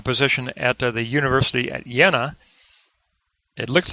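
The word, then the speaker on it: Jena: taking on the position at the University at yenna it looks like it's Jenna in English but it's a it's pronounced yenna I mispronounced that last time but prior to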